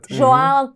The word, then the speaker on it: Joan: Mas não é Juan. É. Nós conhecemos o espanhol sul-americano. E no espanhol sul-americano ele é Juan. Mas e mas ele não é nem ruano no espanhol sulamericano, porque o nome dele escreve-se com o o fechado e não com u para ser o Juan